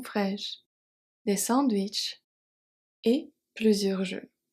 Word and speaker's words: fraîches: Fresh. Fraîche. The E and the S are silent. But the H is not. OK. H is part of the C.